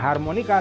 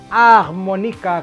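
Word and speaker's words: harmonica: Eh kalau juga seperti sebaiknya tidak harmonika tapi ah Monica Karena aset tidak dibaca tidak pernah bunyi Yan deh langsung saja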